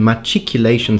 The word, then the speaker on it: machicolation: Okay, so far the pronunciation machicolation seems to be the most probable, but I still have a lot of data for you.